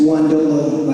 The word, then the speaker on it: Guolo: in the eye and say my name correctly it's guolo by the way but he got that